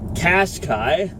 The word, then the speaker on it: Qashqai: Canadian market 2017 Nissan Qashqai I think it cascais rhymes with splash guy and fast guy right on well -